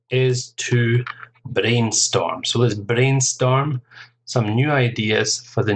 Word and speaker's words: brainstorm: to brainstorm so this brainstorm some new ideas for the new advertising campaign brainstorm two syllables stress on the first syllable next one okay you've